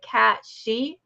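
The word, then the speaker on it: cait sidhe: in Celtic folklore there's a cat called the cat she and that is spelled c a i t s i d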